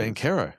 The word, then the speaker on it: Banchero: It's Banchero, surely. It's Banchero. Is it really? Ask him. That's what he says.